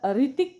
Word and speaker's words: ऋतिक: पण spelling correct येतं काही जण याचा उच्चार रितिक करतात री ती क सो हा पण स्पेलिंग करेक्ट आहे मग तुम्ही म्हणाल मॅडम